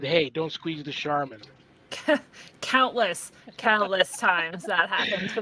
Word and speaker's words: Scharmyn: And then Charmin toilet paper commercial came on, and he was like, "I could spell that a little differently. It's actually a cool word." And now I'm Charmin.